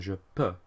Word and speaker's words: peux: EU makes an E sound, so we have je peux, tu peux, il, elle, on peut.